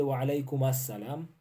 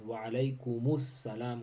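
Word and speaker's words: وعليكم السلام: One correction, we normally say wa alaikum assalam. It is not wa alaikum assalam. The correct pronunciation is wa alaikumus salam wa rahmatullah.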